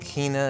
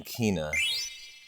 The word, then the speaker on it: Quina: I've always called him Kina, but I was really yesterday talking myself back into Quina. Quina, even. Like E-E, like Q-U-E-E-N-A, Quina. Although I always have to admit I pronounced it Kina.